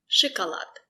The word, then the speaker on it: шоколад: Шоколад. Шоколад. The stress is on lad. Шоколад. Sh. The letter O is not stressed. We pronounce it as I.